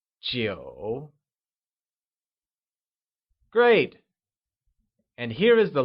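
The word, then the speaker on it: 几: How many or a few translates to ji, which is said using a falling, rising tone.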